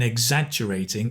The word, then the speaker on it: exaggerating: That sound in exaggerating is like eggs, right? Eggs, as in fried eggs, sunny side up eggs, right? Eggs, exaggerating.